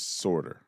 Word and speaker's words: Sortor: It's spelled like Sortor, but it's Sortor.